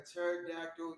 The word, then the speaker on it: pterodactyl: you never heard a pterodactyl use the restroom why because the p is silent oh man all